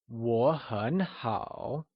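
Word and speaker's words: 我很好: look at another one in mandarin what does i am very good translate to pick the right one is it Nihao or will it be war sure hon how or is it war hun how I am very good translates to war hun how wonderful let's move on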